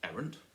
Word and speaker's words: errant: Errant, here, is it errant or is it errant? And the answer is it's errant.